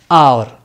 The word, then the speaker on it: hour: it is pronounced as our so here we we should use an in this word h is silent it begins with the vowel sound a with a vowel